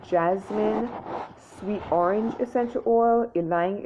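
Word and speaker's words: ylang: sweet orange essential oil elaine elaine and that's spelled y-l-a-n-g bergamo which i mentioned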